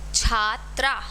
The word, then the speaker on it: छात्रा: छात्रा। छ पे आ की मात्रा है, त्र पे आ की मात्रा है। हिंदी जैसा वर्ड है, कुछ भी संस्कृत जैसा नहीं है इसमें।